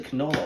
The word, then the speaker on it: canola: Now, this is actually canola oil. Rhymes with NOLA oil.